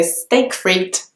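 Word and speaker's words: steak frites: of like in English the word steak is just pronounced like the English word steak and then fruit is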